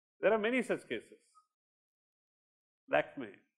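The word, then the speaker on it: Lakmé: Lakme, you say like me.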